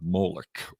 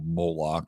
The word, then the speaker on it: Molech: to the Babylonian God Molech or moloch depending upon your pronunciation of it and there's a whole